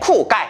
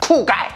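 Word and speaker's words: 酷盖: 넷째, 쿠가이. 발음이 쿨과야 비슷하죠? 바로 멋진 남자라는 뜻입니다. 요즘 중국 10대들은 잘생긴 남자를 봤을 때 쿠가이라고 한다고 하네요. 자, 따라합니다. 쿠가이.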